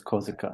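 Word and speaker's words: Korsika: France cops yeah yeah Corsica or in German it's kozika yeah yeah and so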